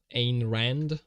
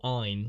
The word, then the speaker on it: Ayn Rand: I think I've typed this before, but Ayn Rand, okay, or Ein, like Einstein. I might be pronouncing Einstein the German way, but Ayn Rand, is that correct?